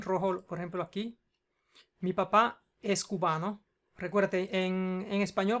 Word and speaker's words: papá: Ok, palabra aguda con más de una sílaba termina en vocal, por tanto lleva la tilde en la A.